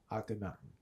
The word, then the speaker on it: Akhenaten: All right, I wanted to jump back because we didn't fully finish with how do I pronounce my bridge's name again? Akhenaten, mm-hmm.